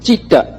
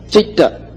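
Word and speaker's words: citta: i now pronounce e so when you put the t there speaking cheat not cheetah chitta chitta so it is consciousness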